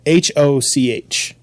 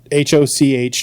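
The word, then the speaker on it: Hoch: The Ger It is the German word H O C H translates to high or tall. So hi. Hi G H, not hello. Oh, not like hello.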